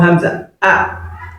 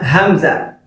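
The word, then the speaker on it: همزة: Then after lam alif, you have hamza. Hamza. So hamza as well is pronounced like alif.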